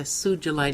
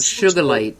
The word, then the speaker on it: sugilite: rky services i see i see yeah yeah sugilite now see there you go i print always pronounced it wrong in my mind i would have gotten sugar light sugar light a quick uh story surgery light